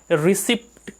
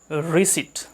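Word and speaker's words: receipt: है रशीद का इंग्लिश तो इसको हम रिसिप्ट पढ़ लेते हैं लेकिन यह गलत होता है यह जो पी होता है वह साइलेंट होता है सो इसे हमें पढ़ना है रिसेट not respect थिस ए रिसिप्ट दिस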